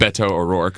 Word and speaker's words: Beto O'Rourke: With Beto O'Rourke. I pronounced it correctly now.